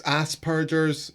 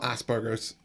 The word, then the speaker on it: Asperger's: It's Asperger's, not Asperger's. Everyone mispronounces it.